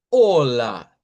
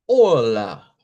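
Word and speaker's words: olá: De hecho, aquí no está, pero nosotros podemos decir en portugués así con acento en la a hola. Y claro, por supuesto, esa a que se pone ahí es esta, esta misma. Por eso se escucha como con fuerza que al final hola, hola con el acento de la lengua pois.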